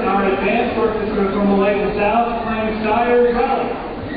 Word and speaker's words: Styres: it up and found out that it is pronounced Styres, and what it refers to is a special